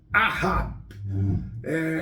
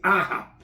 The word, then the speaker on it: Ahab: que é o Aham eu vou soletrar para vocês para a minha pronúncia vai a minha pronúncia vai vai de vez em quando furar mas é ar a h de hoje a de água e b de Brasil ah eu chamo de ahaha ele é o capitão